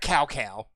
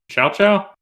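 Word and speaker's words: Cao Cao: the names wrong yeah bring back cow cow that was uh dw6 right i think that was six yes it was just cow cow cow uh and he was hardly uh the worst pronounced name yes indeed you said indeed are you trying to say chow chow cell that's not okay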